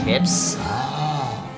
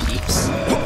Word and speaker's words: Pips: One of the comments is that the yellow power peeps, or any peeps in general, are pronounced as pips. I believe it's pronounced as peeps. I strongly believe it is.